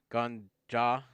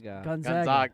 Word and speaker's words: Gonzaga: You want to Take it one syllable at a time. Gonzaga. Very close. Gonzaga. Gonzaga. Okay, that's a hard. That's a hard A.